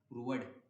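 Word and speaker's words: proved: तो x बाय वाई की value हमने प्रूव कर दी, क्या आएगी, p बाई Q, hence प्रूव्ड। ठीक है, प्रूव नहीं, प्रूव्ड, प्रूव्ड होता है इसका प्रोनाउंसिएशन, आज से सब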